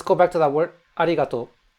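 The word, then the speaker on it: ありがとう: So, sometimes, officially it's spelled arigatou, but sometimes the U is omitted at the end just to make it shorter. Because Japanese people like to say things quickly and short.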